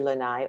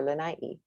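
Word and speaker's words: Lānaʻi: Lanai can be Lanai or Lanai.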